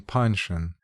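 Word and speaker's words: Panshin: been hindering mr punching she never pronounced his name panchon as was correct from holding forth besides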